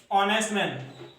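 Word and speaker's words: honest: अब ये जो रूल है इसके एग्जांपल जैसे मान लो कि हम देखें, जैसे ऑनेस्ट मैन।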